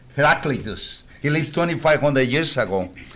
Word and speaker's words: Heraclitus: I know how to pronounce his name in Spanish because I speak perfect Spanish, no foreign accent. Heraclito, with an H. Heraclitus.